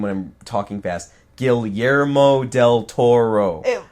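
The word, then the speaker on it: Guillermo del Toro: when I'm talking fast gilero Del Toro it's Spanish right yeah GMO the the two L's would not be L's right right well point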